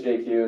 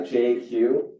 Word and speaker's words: Jay Kiew: times my name is JQ as mentioned uh I'm probably the only person you'll ever meet who can pronounce his full name in just two letters uh JQ kind of like Jay-Z but uh I'm not